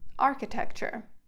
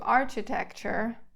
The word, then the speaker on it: architecture: is called an arch the arch is to architecture pronouncing the CH soft what grass is to